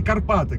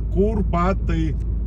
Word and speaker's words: Курпаты: Так, и не путайте, ребят, правильно пишется, не Карпаты. Карпаты – это Западная Украина. Санаторий называется Курпаты. Кур.